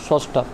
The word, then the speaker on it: স্রষ্টা: কারোর মত ঠিক আছে যেমন সস্টা সষ্টটাতে তোমার দন্তস্যর সাথে তোমার স্বরীয় যুক্ত আছে ওই কারণে শব্দের শুরুতে হওয়ার কারণে পরবর্তীতে যখন উচ্চারণ করি আমরা তখন দন্তস্যর সাথে আমরা ওকারটা যুক্ত করে দিই যেমন স্রষ্টা ঠিক আছে সেম ভাবে গ্রন্থ